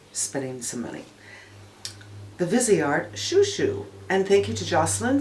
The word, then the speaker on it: Chou Chou: The Viseart Chou Chou, and thank you to Jocelyn for telling me that it's not pronounced Chow Chow.